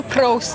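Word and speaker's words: proost: in Netherlands you say Pro how the heck did you do that Pro you kind of roll the tongue uh you can also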